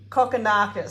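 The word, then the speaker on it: Kokkinakis: nick curios yeah and is it nice fantasy cockanakis that's how you say it oh he's got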